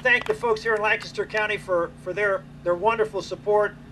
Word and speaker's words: Lancaster: reminded everybody there that we have a Lancaster County, Pennsylvania. We pronounce it the same way. And the reason we do is because Lancaster County, South Carolina, was